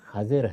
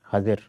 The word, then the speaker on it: خضر: کر لیا گیا ہے۔ عربی زبان میں اس کا تلفظ بھی خضر ہے، لیکن ہماری اردو میں اب یہ خضر بولا جاتا ہے، اور